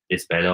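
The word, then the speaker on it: Lisbellaw: I think there's only one hurling club in Lisbella or Lisbelu, as I would pronounce it.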